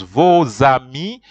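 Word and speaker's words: vos amis: I've already told you why do I say vozami is because v-o-s that is your and v-o-s then you do the the vo there's an S and then the word ami begins with a vowel so in French for pronunciation purposes the S is always joined with an A so that that's how you pronounce it you pronounce it as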